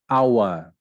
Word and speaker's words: hour: Hour, the H is silent.